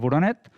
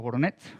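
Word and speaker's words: Voroneț: I aquí un altre exemple, en aquest cas a les parets a l'interior del monestir de Voronet, a Romania, o Voronets, crec que s'ha de pronunciar, en què es va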